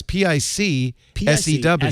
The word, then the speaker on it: Picsew: So the app that I'm talking about this week, it's called Picsew. Picsew is an app that lets you stitch together screenshots. Oh, it's SEW. Yes. I thought it was PIXO. It's PIC SEW. SEW.